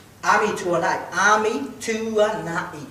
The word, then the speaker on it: Ami: Ami Tuanai. 3 syllables, ladies and gentlemen.